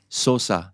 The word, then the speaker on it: Sosa: saying it right but is it zosa zosa Sosa Sosa that's how you say it SAA dude why I